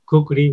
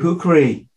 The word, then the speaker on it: kukri: Kukri, yeah, Kukri. Kukri, the legendary. In Nepal, we said it's Kukri.